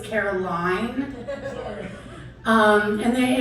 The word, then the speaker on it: Caroline: to be a though it's Caroline um and then it's it's funny that you